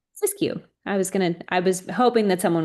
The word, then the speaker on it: Siskiyou: I'm going to pronounce this county wrong. It's Siskiou, where there are new Siskiyou. Siskiyou.